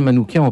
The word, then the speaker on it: Manouchian: ben sur la prononciation moi je dirais manouquant parce qu'en fait en arménien le le CH se prononce K missac c'est Michel en